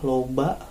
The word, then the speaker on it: loba: Kemudian ada juga ini loba ya. Loba artinya banyak ya. Loba artinya banyak. Banyak ya, loba. Cara bacanya loba artinya banyak.